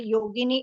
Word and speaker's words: Yogini: in the same way yogini is a version of saints beautiful and it rhymes with Linguini if you know what's